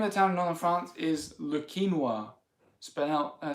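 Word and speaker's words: Le Quesnoy: town Madonna France is Luke quinoa spin out I spelt qu es n o why sort of like the grain ya pronounce like this yeah quinoa look quinoa I wonder if anyone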